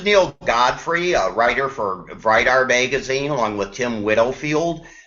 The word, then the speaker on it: Vridar: We pronounce it Vridar.